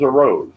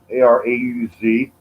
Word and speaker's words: Arauz: And this is a rose. A rose is how I think it's pronounced, Arauz. Maybe you can help me with that, all the fans out there watching right now. Jonathan Arauz, as he steps in